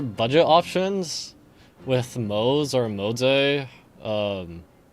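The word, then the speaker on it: Moze: You're just not doing like there are budget options with Mo or Mos. Um, it's it's Mo, but Chinese pronunciation is I don't remember the tones, but it's like Moz.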